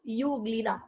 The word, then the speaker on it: Euglena: EU nahi hai, it is euglena. E is silent.